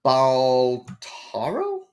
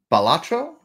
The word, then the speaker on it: Balatro: games all right so we got ballaro is that how do you say it I don't think so ballaro you I don't I'm assuming the ace is supposed to be an a there balatro oh yeah yeah yeah balatro you're right I Axel